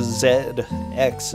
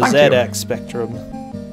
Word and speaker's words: ZX Spectrum: Christon ki has played the Zed X I'm saying it like you okay the ZX spectrum as the the correct way to play the correct way to say it rather I think I